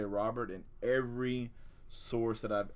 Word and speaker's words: Robert: orange KC Mize hey I've been I've been pronouncing it robear forever but everywhere I looked has said Robert